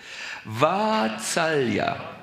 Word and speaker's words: Vatsalya: Yes, once again, the first A is a little longer than you pronounced it. Vatsalya.